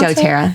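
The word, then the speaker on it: doTERRA: DōTERRA is how you pronounce DōTERRA.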